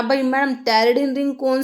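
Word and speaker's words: pteridine: लिए है this is टेररडीन ring. टरडन में देखो ऐसे लिखते हैं इसको पी साइलेंट होता है।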